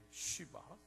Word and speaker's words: 쉬바: 이쪽 아주 조심스럽습니다 쉬발 저도 아주 유심히 발음을 할 텐데 여러분 해보면 알겠지만 이게 조금 어려운 발음이라 혹시 제가 실수하더라도 놀래서 보지 마시고 이름이 그렇다는 것을 이해해 주시면 감사하겠습니다 제가 연습 많이 했는데도이 어려운 거 같아요 쉬바 예 그래서 제가 일부러 시바라고 하겠습니다 쉬바 이게 좀 이상한